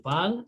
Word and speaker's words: parle: So the E is still silent, so we say il parle, elle parle.